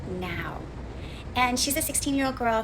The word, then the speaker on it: Nao: character is called Naoki Yasutani, but she goes by NAO, which is actually pronounced now.